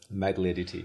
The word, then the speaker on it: Magliarditi: I'll let you pronounce it. Magliarditi.